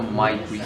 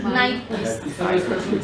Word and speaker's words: Nyquist: Profe, ¿es Nyquist o MyQuist? Nyquist. Escribiste con M. Cámbiala por una N.